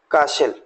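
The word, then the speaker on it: castle: सो ये सारे वर्ड्स आप देखेंगे, जैसे यहाँ टी लेटर को हमने साइलेंट रखा हुआ है, FASTEN, इसको बोलेंगे फाशन। काशल, यस।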